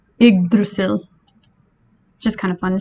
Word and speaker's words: Yggdrasil: just so you know if i didn't look up the pronunciation i probably would have called this egg drazzle so it is not egg drazzle it is what type of tree is what type of tree is iggrasil just kind of fun